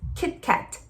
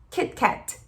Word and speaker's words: Kit Kat: T, Kit Kat, Kit Kat. Mas ele não vai fazer tch.